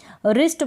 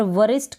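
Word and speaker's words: wrist: तो ये रूल है, W के बाद R है तो हम क्या करेंगे, W को प्रोनाउंस नहीं करेंगे, रिस्ट बन जाएगा। यहाँ पर वरिस्ट करके आप इसको प्रोनाउंस बिल्कुल ना करें, रिस्ट प्रोनाउंस करें।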